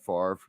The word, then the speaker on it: Favre: New York Jet Brett Favre or they'll call him Brett fav like his name really is they won't mispronounce it